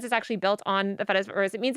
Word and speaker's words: Fediverse: The Fediverse. Spell it. It's Feta cheese.